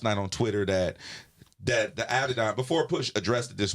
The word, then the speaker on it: Adidon: Adion. Oh yeah. He said it this morning. Right. Adidon.